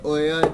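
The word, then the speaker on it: OUYA: to compare it to oya device oer device it is pronounced oh yeah i think we are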